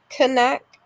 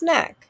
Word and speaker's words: knack: my next one knack it's not connect similar to knob it's just neck silent k next one climb my